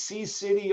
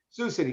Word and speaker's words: Sioux City: a very challenging group I think the way they pronounce it is C City or Iowa is that correct one second I lost everyone here C is that he pronounced it C City anyone do City sushi Oh Sioux City's Sioux City correct sorry Sioux City Iowa